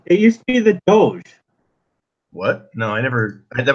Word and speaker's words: Doge: I've heard of these people call themselves Doge, which is the ancient leader of Venice, and just phonetically, it's a bit like dog, but nothing to do with dogs.